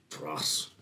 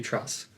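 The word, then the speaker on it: Dras: Dross. Thank you, Tross. Dross. Duras.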